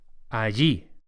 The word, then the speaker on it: allí: And there is allí. Allí. The pronunciation of double L in Spanish is very similar to a Y, so allí.